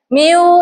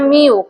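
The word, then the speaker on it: μ: coba sama-sama le mi s miu ini dibacanya miu kayak gini tulisannya dibacanya M.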